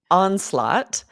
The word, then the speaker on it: onslaught: Onslaught. This is a little bit difficult to pronounce because the word laugh is in it. It has that GH, but it's silent.